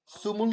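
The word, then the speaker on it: 스물: দেখেন সুমুল না, কিন্তু নর্মাল সুমুল না, কারণ কি এখানে আছে উ, 2 দাঁত, উপরের পাটির দাঁত সামনের, উপরের পাটির দাঁত নিচের দাঁত একসাথে লাগায়া আমাকে উচ্চারণ করতে হবে সুমুল, সুমুল।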